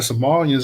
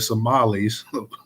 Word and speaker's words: Somalis: Okay, I didn't know about the Somalians as well, too. The Somalis. Let me say it correct. The Somalis.